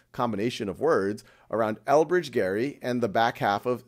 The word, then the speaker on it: Gerry: And that goes all the way back to 1812, when the then governor of Massachusetts, Elbridge Gerry, Gerry was how you pronounced his name, although now it's gerrymandering, he decided to sign the bill that would reapportion the state Senate districts.